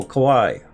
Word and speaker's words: kawaii: pronounce that again Hawaii the Hawaii sort of uh with a K oh Kawai uh the Kawaii death